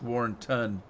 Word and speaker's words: Warrenton: the drop to W you got it it's Warren ton but yeah you got it some people pronounce it Warrenton Warren town but it's not